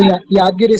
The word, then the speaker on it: Yadgiri: Yadgiri, forgive me for pronouncing wrongly, but you can tell me the correct pronunciation. Hello? So Yadgiri, sir. Yadgiri, okay, good.